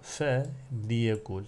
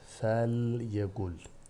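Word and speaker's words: فليقل: Fe liyekul, fe liyukrim şeklinde okudum. Burada lamın harekesi belli olsun diye. Yoksa fe liyekul diye okunmaz. Fel yekul şeklinde. Fel yukrim şeklinde okunur.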